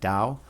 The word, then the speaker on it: Tao: It's pronounced with a d. Dao.